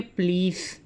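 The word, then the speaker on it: police: और स्टूडेंट्स याद रखो, इंग्लिश में इसकी प्रोनाउंसिएशन क्या होती है? प्लीज़। पुलिस नहीं होता, प्लीज़। प्लीज़, ली लंबा करना है।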